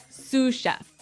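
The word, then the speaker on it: sous chef: Sue chef. Sue cheef. S o u s. So the s is silent because it's like a French word.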